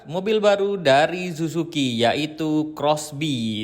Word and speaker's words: XBEE: Ini dia mobil baru dari Suzuki yaitu Crossby dan tulisannya XB ya teman-teman. Tapi bacanya ini Crossby.